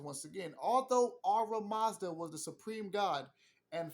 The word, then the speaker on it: Ahura Mazda: says once again, although Ara Mazda was the supreme god and family, you need to know these ancient names for these ancient energies way before Christianity came. Ara Mazda, and that's spelled Ahura Mazda.